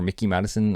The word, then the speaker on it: Mikey Madison: I think, is it Mikey Madison or Mickey Madison? I think Mickey is how you pronounce her name.